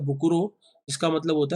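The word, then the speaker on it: 袋: भाग्य या luck, and फुकुरो pronounced as बुकुरो meaning bag. और दूसरा भाग है फुकुरो, जिसको प्रोनाउंस करा जाता है बुकुरो, जिसका मतलब होता है बैग।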